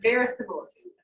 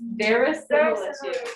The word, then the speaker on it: verisimilitude: Verisimilitude. Verisimilitude. Now, Fernando, what does that word sound like? What you just said earlier. It sounds like the word similar, right? Very similar. That sounds like very similar.